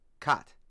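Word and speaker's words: Kät: Kat. At least 30 years. Okay, how do you spell it?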